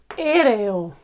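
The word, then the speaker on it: aéreo: Another example is aereo. We have four strong vowels and four syllables here. A, E, Re, O. Okay?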